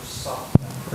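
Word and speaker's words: ص: Padahal kalau shad itu diucapkan dengan mecucu bibirnya.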